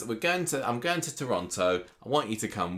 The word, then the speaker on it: Toronto: He has a new job in Toronto.